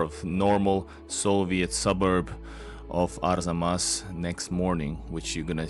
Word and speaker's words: Arzamas: of Arzamas, which I had so much trouble pronouncing, but now I got it. So Arzamas, it's easy now.